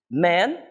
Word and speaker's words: man: a com e homens a pronúncia a a pronúncia é um pouquinho difícil tá pra gente apresentar o homem em inglês vai ser Man a gente vai demorar um pouquinho mais de tempo pronunciando e Mas é bem curtinho então ten Man Homem Men homens isso é um pouquinho mais longo dizer é plural exatamente